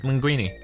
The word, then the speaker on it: Linguini: what I'm gonna say it's linguini that's how it's actually said you people up you say it wrong just sebab how are